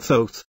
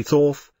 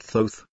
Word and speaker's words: Thoth: The person depicted here is a man named Thoth, pronounced with a long O. Someday people say Thoth, but he pronounces it Thoth.